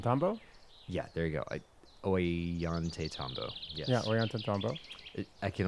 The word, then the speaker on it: Ollantaytambo: Ollantaytambo.